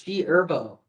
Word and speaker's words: G Herbo: The H is silent. It's G Herbo.